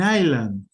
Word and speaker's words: island: It is actually an island. Island. Iceland. Iceland is an island. Okay? I know. It's English. I'm sorry. I didn't invent it. They put an S here and they don't use